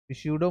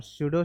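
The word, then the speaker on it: pseudo: स्यूडो का spelling बताओ कोई। हाँ, पी उसमें लगा रहता है, PSUEDO। PSUEDO। स्यूडो मत पढ़ना, स्यूडो पढ़ते हैं।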